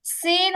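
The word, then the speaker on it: س: বলি আপনারা যদি কথা বলেন তাহলে কারটা শুনবেন সিন উচ্চারণ করার সময়ও সেমভাবে চিহবার আগা নিচের দুই দাতের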